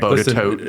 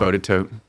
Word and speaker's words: Botetourt: Bodetote. Nobody whatever gets the- Occoquan right. Botetourt, I think. Everybody gets it wrong. Bodetote. Botetourt. So- We used to call it Botetourt County.